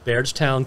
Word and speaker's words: Bardstown: In 1783, he founded Kentucky's first commercial distillery on the banks of the Ohio River, bottled in Bardstown, Kentucky, and the product is distilled at Heavens Hill Distillery to this day in Louisiana, Kentucky.